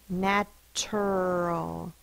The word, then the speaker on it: natural: a n a t now we say natural just because of coarticulation coarticulation is how sounds are influenced by other sounds around it and it's the r spelled as you are that influences that t natural it feels weird to say natural your mouth just kind of wants to slide through it natural that's why we say the CH sound a is spelled with